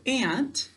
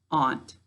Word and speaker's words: aunt: end of english words so if you pronounce this word ant how do you need to say it to spell it good we need to say aunt all right our next